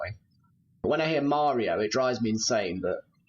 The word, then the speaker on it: Mario: Some Americans say Mario, some Americans say Mario. I'm definitely a Mario person.